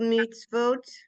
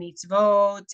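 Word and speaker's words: מצוות: to to o oh meets vot yes remember this exception of when you have a shva and a V with a vowel on it you pronounce the vowel it's like this obscure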